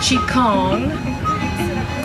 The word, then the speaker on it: qigong: term is vital energy qigong sometimes pronounced chi kong is the science of